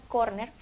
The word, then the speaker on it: córner: Y como lo mencionamos, ya que está adaptada a nuestra ortografía española, corner, como es una palabra llana, debe de tildarse en la O, en la primera sílaba, bueno, en la penúltima sílaba.